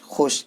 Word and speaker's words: خوش: ذیل کی ہجے کرائیں۔ دیکھیے، واو اس کو واو معدولہ کہتے ہیں کیونکہ یہاں پہ تو لکھا ہوا ہے لیکن اس کو ہم پڑھتے نہیں ہیں۔ کیسے پڑھنا ہے اس کو؟ تو خے شین پیش خوش، اس طرح ہجے کرنا ہے۔ اس کو، یہ واو جو لکھا ہوا ہے اس کو نہیں پڑھنا ہے۔ اگر اس واو کے ساتھ پڑھیں گے تو معنی خراب ہو جائے گا، معنی صحیح نہیں